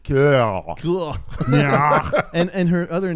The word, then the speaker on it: Keough: Guys, it's pronounced Kill.